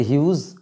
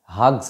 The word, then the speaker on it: Hughes: ওন নিজের true family সত্যিকারের পরিবার লিখছেন টেড হিউজ কেউ কেউ উচ্চারণ করে হাগস টাক্স উচ্চারণ করে যাই হোক টেড হিউজ তিনি